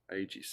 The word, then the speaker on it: Aegis: Is the G, is that a G or a J? Aegis. It's my understanding it's a hard G.